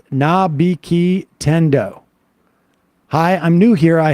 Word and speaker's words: Nabiki Tendo: For Sam, it's pronounced Nabiki Tendo.